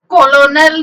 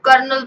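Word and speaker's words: colonel: सही नहीं करते हैं जैसे करनाल कॉलोनियल नहीं पढ़ने हैं हम इसको करनाल पढ़ने हैं तो बिल्कुल ए रहा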